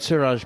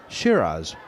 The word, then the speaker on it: Siraj: I've heard sometimes Muhammad Siraj pronounced Shiraz. Is that just a is that just an error? Yeah, it's Siraj. He's not that. He's not the fine red wine.